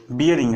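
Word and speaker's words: bearing: सही उच्चारण क्या होता है, सही उच्चारण होता है बियरिंग, ठीक है। और नॉर्मल हम लोग बोल देते हैं यार बैरिंग है, साइकिल की कोई बैरिंग है या कोई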